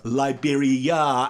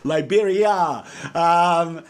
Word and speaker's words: Liberia: In fact, I have written a little chorus called "Going Back to Liberia," or Liberia, as I actually sing, and that's actually out there how they say it as well, Liberia.